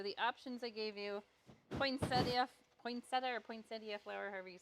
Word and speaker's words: poinsettia: It is poinsettia. Okay, here's my hat. So we mispronounced it our whole life growing up.